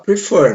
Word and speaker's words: prefer: Então aqui vai dobrar quando a última sílaba for a mais forte. Perceba no exemplo aqui, ó. Prefer. A gente fala prefer, não é?